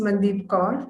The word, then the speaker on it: Mandeep Kaur: Did I pronounce it correctly? Yes, ma'am, it's Mandeep Kaur from India, Kaur.